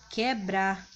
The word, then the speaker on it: quebrar: Em palavras, como quebrar. Observe que quando vocês pronunciam a palavra quebrar, vocês não falam quebrar, não é isso? Vocês falam quebrar, apenas o som do que é pronunciado.